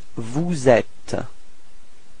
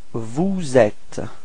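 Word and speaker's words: vous êtes: sound and after that you should do the leazison. So this small link between the s and the e. So you get vuet. Repeat. Vuette. Okay. Final s not pronounced.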